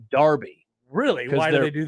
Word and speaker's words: Derby: they call City Town rivalries Derby but they pronounce it Darby really why do they